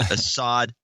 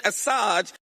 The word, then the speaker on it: Assange: Hillary losing, and then she has this interesting mispronunciation of Julian Assange. Oh, yeah. This is Julian Assad ISO. With WikiLeaks, Julian Assange.